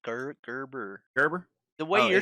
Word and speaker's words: Gerber: I think it's pronounced with the G. Gerber.